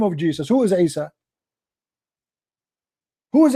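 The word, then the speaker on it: Isa: not even know how to say and to pronounce the name of Jesus who is Asia who's Issa his mother her name is Maryam her father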